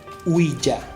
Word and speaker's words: Ouija: La tabla Ouija, más propiamente pronunciado Ouija, es un tablero de